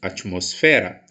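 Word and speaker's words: atmósfera: atmosfera atmosfera olha só ela possui a pronúncia diferente do português que dizemos atmosfera e espanhol desse atmosfera então vou chamar atmosfera para jogar bola atmosfera ou atmosfera qual sílaba eu entrego maior potência vocal para pronunciar nos certo tamos está localizado aqui ó o última a penúltima moço está na antepenúltima sílaba da minha palavra sendo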